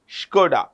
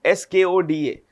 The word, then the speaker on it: Skoda: Skoda. Skoda.